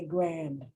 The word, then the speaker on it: grand: The reason I can put the that as matching, because I don't pronounce the D at the end. Unless I really want to emphasize these two words, the word grand. But otherwise I say grand.